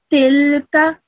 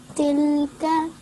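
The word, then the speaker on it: تلك: You should only pronounce this for 1 second because this has a simple fatha on top of it. So this is tilka. Tilka.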